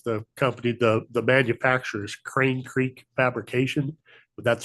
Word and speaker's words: Krain: We're a little bit out of order, but this is Crane Creek Fabrication out of Minnesota.